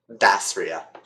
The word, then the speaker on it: Dasria: We're gonna go with a soft A. Dasria. Okay. Dastria it is.